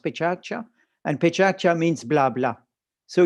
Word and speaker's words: Pecha Kucha: i'll leave you now with those two examples pecha kucha it's written pecha kucha but in japanese it's pronounced pichatcha and pechacha means blabla so you have from